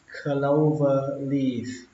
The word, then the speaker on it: clover leaf: Giao lộ có dạng vòng xoay thì các bạn nói là clover leaf. Clover leaf. Clover leaf. Có âm phờ cuối các bạn nhé.